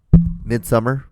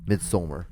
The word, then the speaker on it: Midsommar: Midsummer. Yeah, Midsommar. It's spelled like a Nordic word. Oh, Midsummer.